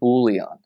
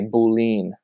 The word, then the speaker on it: boolean: is short for boolean, pronounced boolean. I once heard a girl in a programming conversation call it a boolean, and she lost all of her credibility because that is very silly.